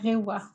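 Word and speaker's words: 令和: Ça se prononce comme ça, Chloé, toi qui sais parler un peu le japonais. Reiwa.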